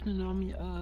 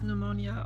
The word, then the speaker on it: pneumonia: So yeah, under the background that basically only pneumonia, the pneumonia. I can't even speak anymore. You don't say the goddammit. P. The P is silent.